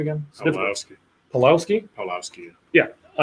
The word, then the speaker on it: Pawlowski: Pawlowski.